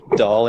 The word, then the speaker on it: Dahl: But today we're here with Dahl. Is that pronounced right? Hey, everybody. Dahl indeed. Okay. Yep. So Like the toy.